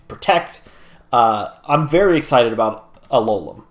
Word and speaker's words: Alolan: I'm very excited about Alolan, which is the correct way to say its name.